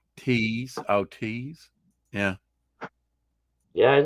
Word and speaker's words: Teese: Pronounce her name like Tease.